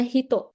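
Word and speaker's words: 人: Kanji ini bisa dibaca macam-macam. Kalau di sini dibacanya hito, ano hito.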